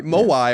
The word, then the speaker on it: Moai: That's spelled like Hawaii. Maui. Moai or M-O-A-I are the weird statues on Easter Island.